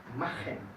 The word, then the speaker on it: machen: En este caso se pronuncia como que hubieran tragado un pelo y quieren quitarse. ¿Sí? Pelo corto, estoy exagerando. ¿Sí? Machen, kochen, suchen.